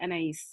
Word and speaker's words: Anais: It's actually Anais. It's Anais. Yeah.